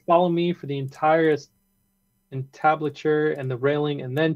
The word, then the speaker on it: entablature: Oh, Peter says I would start with follow me for the entire entablature and the railing and then take out parts for the balusters and add pedestals.